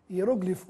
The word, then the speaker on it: hieroglifo: use duplex sem acento hieróglifo ou hieroglifo não é preciso decifrar a forma correta pois Ambas estão certinhas mas é melhor não usar o assento quando quiserem pressionar melhor falar hieroglifo mesmo necr ou necropsia com